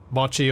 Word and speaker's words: mochi: Up until now, I hadn't thought about the pronunciation of mochi or mochi. What is the correct pronunciation of that? Pretty sure it's the short O.